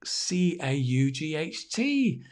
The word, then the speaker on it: caught: do we spell it c-a-u-g-h-t really i mean the pronunciation is just or like court like tennis court or basketball court to be caught it's exactly the same but just very strange